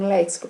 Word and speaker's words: léxico: exemplo né léxico então esse cs significa o quê que o x é pronunciado dessa forma uma informação fonética porque um x a nossa língua tem várias pronúncias né e aqui ele me traz a nossa correta do termo léxico para evitar que a pessoa